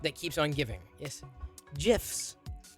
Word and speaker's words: GIF: keeps on giving yes gifs that's how you say it for real uh the way you say jiff reminds me of a peanut butter and now i'm eating